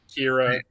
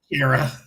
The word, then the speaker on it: Kara: I still Kara. I still say Kara in my head when I'm reading the comics. I've always said Kara, so maybe that's the Australian in me, the way we pronounce certain vowels.